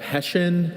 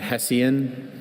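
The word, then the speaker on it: Hessian: Are there any alternate pronunciations? I have Hessen and Hessen.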